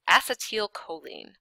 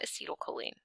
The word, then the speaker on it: acetylcholine: in your head yet it's acetel choline not acetylcholine acetel acetel choline okay or atil choline